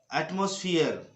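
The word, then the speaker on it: atmosphere: जब ई के बाद आर लगा हो और उसके बाद फिर ई आता हो, यानी ई और उसके बाद आर और फिर से ई आ जाता हो, तो ऐसी स्थिति में ई का उच्चारण होता है। जैसे हियर हियर स्फीयर कोहियर कोहियर और एटमॉस्फियर, तो ये वाली उच्चारण होना चाहिए।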